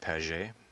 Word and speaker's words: Pagé: And my family name is pronounced Pagé. It's French, so it's Rob in the Pagé family.